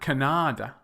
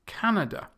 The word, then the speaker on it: Canada: tell you the differences with the first three this syllable stress is on the first syllable Germany it's not Germany and if not Germany Mexico it's not Mexico or Mexico it's Mexico and Canada not Kannada Kannada or Canada Canada it's Canada with the second to